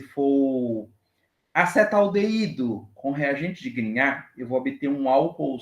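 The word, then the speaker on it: Grignard: Na síntese orgânica, que é uma reação com reagente de grinhar. Grinhar, tá? Se chama-se grinhar, pronúncia, tá, pessoal?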